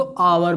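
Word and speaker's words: hour: ठीक है, हम इसको पढ़ते क्या है, हावर तो पढ़ते नहीं है ना, हम लोग क्या पढ़ते हैं, हम इसको आवर पढ़ते हैं, आवर। ठीक है, आवर। अब देखिए हमने यहाँ एच को क्या किया, साइलेंट कर दिया। ठीक है, तो यहाँ पर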